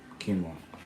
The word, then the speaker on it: quinoa: Quinoa. How much one of those Can you cost? say quinoa?